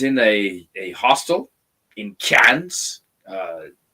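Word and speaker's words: Cairns: um I was in a a hostel in cans uh it's it's spelled Karn with an R but it's pronounced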